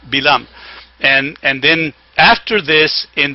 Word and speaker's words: Balaam: And then and it's the pronunciation is Bilam, by the way, not Balaam, Bilam.